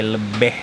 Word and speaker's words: Lebih: Jadi kalau kalian belum nonton videoku yang sebelumnya di Warung Bendega Pantai Lebeh, tulisannya Pantai Lebih tapi bacanya Lebeh.